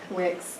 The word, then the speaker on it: Wix: Rhymes with tricks. Okay, that's going to be a big change. Wix.